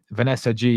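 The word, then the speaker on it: Vanessa Gilles: Vanessa G, yeah, is how you actually say her name.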